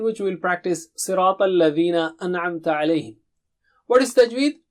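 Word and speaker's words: الَّذِينَ: Sirata, Sirata, Sirata, Sirata, Sirat al-Ladhina. It is not al-Lazina. You have to put the tip of the tongue to the edge of upper teeth.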